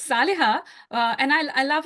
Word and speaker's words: Saliha: into pieces but uh I'm grateful for that pronunciation it is the closest it can get it's it's Sal okay okay Sal yes